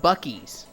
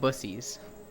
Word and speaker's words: Buc-ee's: It's called Buc-ee's, but a guy was pronouncing it wrong. For the joke of calling it Bussies.